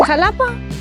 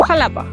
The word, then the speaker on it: Xalapa: Estoy en Jalapa o Jalapa o se escribe con X.